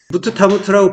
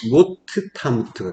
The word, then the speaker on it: 모트타무트: 이게 무트타무트인데 발음을 좀 정확하게 하자면은 무트타무트.이 이 무트가 이제 원형이라서 무트무트라고 했지만은 무트타무트라고 발음을 하게 되면은 좀 설명을 해 줘야 돼. 정확한 발음이 아니니까. 성경 원문에 발음으로 하면 모트타무트가 되는 거예요.